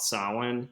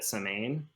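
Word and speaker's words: Samhain: it really it's some a lot of people call it saline it's spelled s-a-m-h-a -i-n uh my great-grandmother called it samane and yeah yeah so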